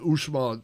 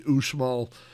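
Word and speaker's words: Uxmal: built uh this this we went to the usal that is spelled ux m a l uh the usal uh Temple there's a pyramid there there's there's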